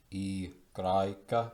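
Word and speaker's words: i Graeca: E Graika, I think it might also sometimes be called upsilon, but E Graika, that means Greek I.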